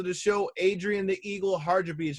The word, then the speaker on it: Hadribeaj: past guests to the show adrian the eagle harja beach how you doing brother man i hope i didn't butcher the name too bad no man you said